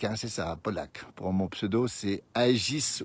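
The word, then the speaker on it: Pauillac: On a bien prononcé Polac, hein, c'est ça, Polac.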